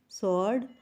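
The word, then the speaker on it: sword: सॉर्ड, सॉर्ड का W जो इस चीज़ को बोला नहीं जाता लेकिन उसको लिखा जाता है।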